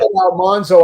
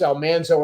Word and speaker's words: Almanzo: So we said Almanzo on the program, but the name should have been pronounced Almanzo.